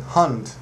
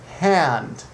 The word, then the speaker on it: hand: in just one class she's saying hun but it's not hun it's hand hand take my hand